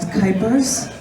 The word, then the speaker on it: Kuypers: My name is Kuypers. Rhymes with hyper, though I won't be hyper right now.